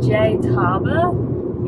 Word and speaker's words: Tjaetaba: It's Tjaetaba. Yeah. With a silent T.